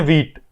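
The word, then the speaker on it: Vite: इसका नाम जो है व्हाइट ये देखने में पढ़ने में आता है की व्हाइट लिखा होगा लेकिन एक्चुअल में इसको प्रोनाउंस करते हैं वाइट शायद फ्रेंच या मतलब मुझे एग्जैक्ट नहीं आता किसी दूसरी इंग्लिश लैंग्वेज नहीं है इसका मतलब होता है फास्ट तो इसको हम इन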